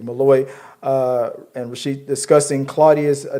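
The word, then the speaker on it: Molloy: opens with Daniel uh Mallaloy. I was I said the name wrong last week. Malloy uh and Rasheed discussing Claudia's diary.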